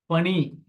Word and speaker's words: பனி: ஸ்கை ஆகாயம் கரெக்டா சரி பனி பனி இதுக்கு என்ன மீனிங் புரியுதா எப்படி தப்பு வரும்னு புரியுதா ரெண்டும் ஒரே உச்சரிப்பு தான் இங்க மூணு சுழிதான் இங்க ரெண்டு சுழிதான் பணி அப்படின்னா ஒர்க் வேலை